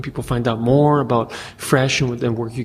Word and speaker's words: Fresche: up on the Internet fresh has a very unique spelling its F our e.s CH e it's spelled like that because it reflects the original French spelling of the word fresh and so because we're